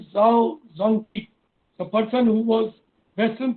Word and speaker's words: Zhao Zongqi: Zongqi rhymes with an animal. I don't want to name the animal, but Zong and that animal, the last part, I remember it, Zongqi. So, Zhao Zongqi.